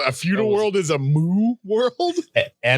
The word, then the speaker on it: Mu: A feudal world is a Mu world? M-U. It's like everything. It's probably pronounced Mew. A Mew, maybe.